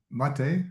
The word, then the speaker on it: Mate: Um is it um mate? Is that how you say it?